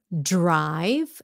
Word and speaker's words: drive: please help me pronounce drive and write drive and write da I know you can say that drive don't forget the V at the end please Drive Drive dry